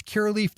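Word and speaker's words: Curaleaf: right things that key relief it does that's Kerr leaf calm which is spelled see you are a L e AF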